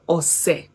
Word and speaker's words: ọ̀sẹ̀: But if it is written this way with these tonal marks, it's pronounced Ose.